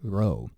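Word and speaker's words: rho: little V there so first up is this is the letter row so so uh as you can tell from the pronunciation it's not a p and that's going to be Pi probably a letter that we've all encountered before this sound it looks like our P but it's row and if it's at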